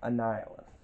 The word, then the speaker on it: Annihilus: a hard name to pronounce but it is pronounced annihilus and on the back here you have the